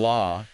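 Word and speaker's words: lá: doing real phonetic work in law that a is Open think father almost.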